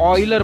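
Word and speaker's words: Euler: मैं इसे miss pronounce नहीं कर रहा, एक्चुअल में इसका नाम ऑयलर ही है, ले क्योंकि ये जर्मन बंदा है और इसका जो स्पेलिंग है वो इंग्लिश में कुछ ऐसा आता है, ठीक है, तो हम इसे यूलर पढ़ लेते हैं, लेकिन एक्चुअली इसके नाम का प्रोनाउंसिएशन ऑयलर है।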